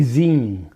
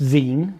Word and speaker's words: zine: this thing where you me whoever writes a z yeah it's pronounced Zen cuz magazine right it's not Z you don't